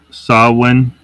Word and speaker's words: Samhain: that stuff it's pronounced saw one um it's just uh it isn't pronounced the way it's it's spelled um ancient Celtic Festival